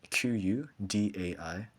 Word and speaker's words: Kudaibergen: Uh, Dimash is Dimash and Kudaibergen is Qudaibergen.